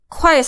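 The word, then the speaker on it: 块: Yang ini kalian lihat di sini, ini itu bacanya 快, ini 快, tapi kuai sama ini yuan ya.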